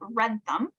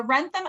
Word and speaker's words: Wrentham: It's in a town called Wrentham, which does not sound how you say it. It is very. I'll spell it. Oh, yeah. Okay. So the Wrentham outlets are south of Boston.